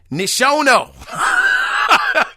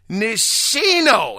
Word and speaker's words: Nishino: Nishono. God, dog. Read it, people. It is fundamental. You got to use all of the syllables. Nishino.